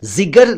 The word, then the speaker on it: जिगर: इसी से बना जिगरी, तो ये भी जिगर है, जिगर नहीं, जिगर है।